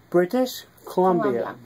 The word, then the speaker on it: British Columbia: So how do you pronounce it? British Columbia.